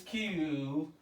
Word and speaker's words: queue: the kill luckily this q q-u-e-u-e yeah q is the only letter that's pronounced in this world in this world yeah q and all other letters are silent it means that the